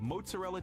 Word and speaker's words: mozzarella: Why? Why try to make it special? Why try to make it like some like your own unique thing? It's not mozzarella. It's not Mozart.